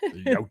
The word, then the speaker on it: Yautja: Anyway, uh but I but it's but it's ya. Uh but you have to say it like this because Ben Percy, it's like ya coming.